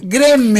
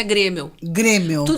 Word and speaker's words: Graeml: Ele escreve Graemil. Mas ele pronuncia Grêmio. Como fosse Grêmio de colégio, de Grêmio de time. Tudo que eu sei de alemão é que o A e o E, quando estão juntos, pronuncia como E.